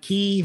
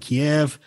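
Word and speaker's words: Kyiv: the US government provided key with thousands of and I know a number of people like to pronounce it uh Kiev but um from the Ukrainian pronunciation I've heard the correct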